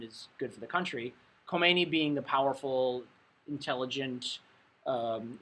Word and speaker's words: Khomeini: n i call me it sounds like co-mini but it's pronounced khomeini um and he had